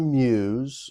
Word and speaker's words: mews: So it's called a muse, and you Irish people will know what that is. For Americans, muse is spelled MEWS.